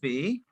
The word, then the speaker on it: vais: Je vais, Je vais. Je vais. tu vas. देखो यहाँ पे what we are doing over here, we are not pronounce S because S would be silent.